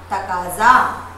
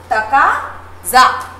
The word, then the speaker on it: तकाजा: दूसरा शब्द है हमारा तकाजा, तकाजा। ज के बाद में हल्का सा ह का उच्चारण हमें करना है।